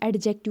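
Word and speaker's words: adjective: उसके बाद एडजेक्टिव यहाँ पे है ना, इसको हम एडजेक्टिव नहीं बोलते, हम इसको एडजेक्टिव बोलते हैं, यानी डी साइलेंट है यहाँ पे।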